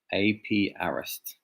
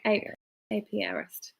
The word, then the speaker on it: apiarist: Just going to say that Susie helped us with our pronunciation. Oh, good. Apiarist. All right. Apiarist. Apiarist. Thanks, Still Susie. not doing it right, am I?